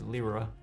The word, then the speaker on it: Lyra: in the lyra project i believe it's pronounced i've been pronouncing it lyra but i heard a live stream with epic and they said libra but i'm probably still gonna say lyra and uh specifically we're